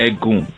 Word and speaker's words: Egun: had oh so we have what's called the egg goon and ed goon is spelled e G you and okay and the